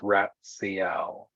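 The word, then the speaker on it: Ratsiel: you spell the guardian's name his name is pronounced ratcl and uh that you met tonight while standing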